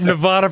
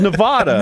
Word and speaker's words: Nevada: it would be pronounced Nevada. No one said you were an idiot. Because it comes from the word Nevada, which is Spanish, and that's how it's pronounced.